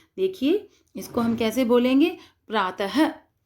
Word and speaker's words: प्रातः: प्रातः, पुनः, इसके अंत में अह की आवाज़ आती है, तो ये होता है विसर्ग।